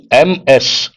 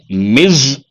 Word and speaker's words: Ms: Here, MS. We pronounce this as Ms or Ms.